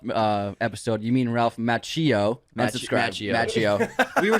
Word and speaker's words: Macchio: Macchio we were saying Macchio because that's how you say it in Italian but he pronounces it American style it's like the American Italian yeah the Italian CH is always a k sound so we said it